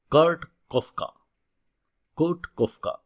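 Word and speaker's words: Kurt Koffka: তো তার আগে বলি যে there is a person, name হচ্ছে কার্ট কফকা, এটা উচ্চারণটা এরকম হবে, রাইট?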